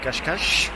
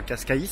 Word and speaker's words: Cascais: dans les rues de cache cache enfin moi je le prononce ce cascais mais motivé je crois que c'est cache cache cache cache et voilà